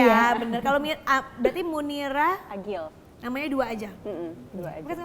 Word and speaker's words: Agile: Bacanya Agil apa Agile sih? Agil. Oh Agil, kenapa pakai E?